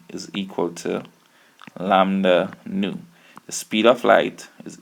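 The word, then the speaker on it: ν: measured in meters now this here looks like a v it is not a v it is pronounced new nuu nuu new you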